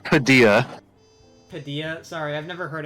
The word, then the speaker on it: Padilla: Uh, I uh there's an Anthony Padilia, the one of the Oh, smash. Whoa. Okay, back up. It's pronounced Padilla.